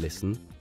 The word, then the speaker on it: listen: In listen, the T is silent.